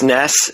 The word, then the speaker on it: NES: Entertainment System the NES I really hope you call it the NES and not the nest you do have any